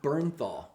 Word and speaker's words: Bernthal: Bernal birth burn think it's pronounced all the way it's spelled we had this conversation before the podcast burn PRN ta oh yeah Bernthal yeah I'm Justin calling